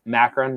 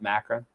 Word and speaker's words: Macron: It's pronounced Macron, not Macron.